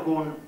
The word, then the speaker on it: GUN: Dunque, questo è il governo nastri magnetici, era governo unità nastro, GUN, per cui letto all'inglese io ero il gunman, l'uomo col gun, con la pistola, no? Però lo pronunciavamo giustamente all'italiano. Questo Kun della macchina zero era l'unica parte transistorizzata.